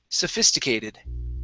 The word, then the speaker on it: sophisticated: next up is sophisticated so our stress is right here sophisticated sophisticated very good all